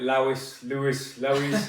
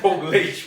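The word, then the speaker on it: Portlaoise: pronounce this place cuz I called it Lois LS Lois the drive look to me like I'm a lunatic so apparently it's Paul leash we're in in Ireland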